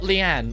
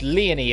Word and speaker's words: Leony: my big sister leony because it's not Leanne even though I swear to God I'd pronounce it Leanne it's it's leony apparently and she just gives